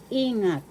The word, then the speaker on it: ingat: English elepant e example ingat ingat ingat take career in English first syllable e second syllable The accent is in the first ingat ingat ingat take